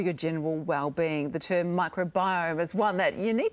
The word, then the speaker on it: microbiome: I thought it could have been microbiome. I mean, what exactly is it? No, you got it right. It's definitely microbiome.